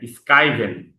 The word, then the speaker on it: schieben: হ্যাঁ, স্কাইভেন।